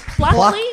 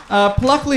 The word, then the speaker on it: Pluckley: Pluckley? Pluckley. Pluckley. Pluckley. Pluckley. Probably spelled with a Q or something. No, it's like pluck. P-L-U-C-K.